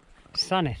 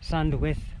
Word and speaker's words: Sandwith: And this is where we take a right, start walking towards Sanith, which is Sandwith. Sandwith, but you pronounce it Sanith.